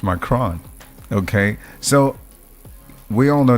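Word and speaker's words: Macron: say that macaroni please it's not macaroni it's m cron okay so we all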